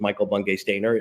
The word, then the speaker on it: Michael Bungay Stanier: Today, my guest is MBS, but I can pronounce it, or I properly pronounced his name, which is Michael Bungay Stanier, an old Perfect.